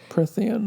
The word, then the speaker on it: Prythian: Prythian. There's no N. Oh. See? Mispronouncing things. What is it? Prythian.